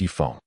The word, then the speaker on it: Ye Feng: Please pay attention to your pronunciation Ron, it's Ye Feng.